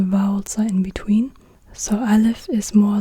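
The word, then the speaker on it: אָלֶף: So Aleph is a glottal stop, Bet is a B sound, and Vet is a V sound.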